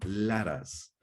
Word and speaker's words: Laras: De manera simultánea pronunciaremos el mantra Laras, ¿sí? Es sí. La, ra, y nos adormeceremos. La letra S la pronunciaremos como el sonido silbante parecido al que producen los frenos de aire cuando se hace entre la vigilia y el sueño.